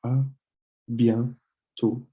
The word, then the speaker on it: à bientôt: Then you have à bientôt. À bientôt. This accent mark doesn't really change the sound of the O here, but it's à bientôt. À bientôt. And don't pronounce the last T.